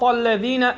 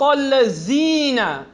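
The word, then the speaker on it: الذين: verse we have, Sirat al-ladhina an'amta alayhim. Everyone? Sirat al-ladhina an'amta alayhim. Sirat al-ladhina. Everyone say ladhina. Many people pronounce Sirat al-lazina. And that's incorrect. It's not a za.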